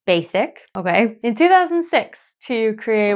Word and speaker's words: Basique: Mary Lou Ryan founded basique pronounced basic okay in 2006 to